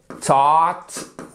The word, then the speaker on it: taught: Bought, le O-U-G-H-T se prononce comme le A-U-G-H-T. D'accord? Ici, c'est to buy. Bought, écoutez. Taught, c'est la forme irrégulière au passé et au participe passé de to teach.